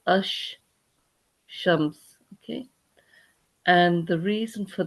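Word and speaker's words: الشمس: And when you read it, you actually read it as ash shams.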